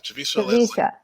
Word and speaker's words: Javicia Leslie: casting announcement, and I believe her name is pronounced Javicia Leslie? Yeah, Javicia. Yeah, Javicia Leslie.